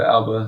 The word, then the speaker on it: ABA: It's ABA, but Alba is how you say it.